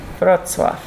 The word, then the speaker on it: Wrocław: I have to not remember how it's spelled. If I try to look at the word, then it's like totally confusing. But if I just remember the sounds, Wrocław.